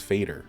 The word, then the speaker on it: Fader: up on Google, and they were like, it's Fader. And I'm like, okay, greater rhymes with it.